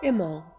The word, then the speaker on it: Imbolc: Imbolcg is pronounced without the B, Imbolcg, represents the time of